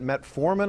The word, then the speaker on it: metformin: The medication is that metformin. I have that correctly pronounced? That's correct.